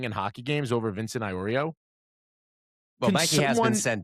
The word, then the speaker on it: Iorio: Iorio, I'm saying it right.